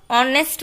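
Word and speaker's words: honest: ऑनेस्ट का भी हमने ऊपर एग्जाम्पल देखा था, इसलिए ऑनेस्ट जब हम बोलते हैं तब एच जो है वो साइलेंट रहता है और ऑनेस्ट बोला जाता है, तो यहाँ पर क्या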